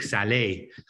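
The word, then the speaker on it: salé: learning French is like you say cake Sal because it has an accent on the E but if there's no accent means dirty so you have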